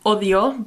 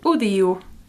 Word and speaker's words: odio: It's similar to Spanish, odio, but the O's sound like U's here, so odio.